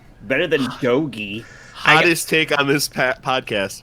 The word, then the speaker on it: Dogi: You're standing outside with Dogi. That's how you pronounce his name. Dogi.